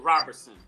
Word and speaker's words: Roberson: is wanda robinson and it's r u r o b e r s o n robber son bro okay yeah okay yeah that's all right it would be roberson but she pronounced it but they pronounced it robertson so yeah i know